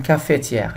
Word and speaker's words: cafetière: Normalement, il doit y avoir 4 syllabes, cafetière, mais on va se contenter de 3, cafetière, cafetière.